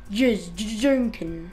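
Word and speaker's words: Jajanken: Jujunkin.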